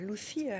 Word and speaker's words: Lucia: Alors, pour Lucy, je le prononce à l'espagnol, puisque c'est là-bas que vous plantez le décor.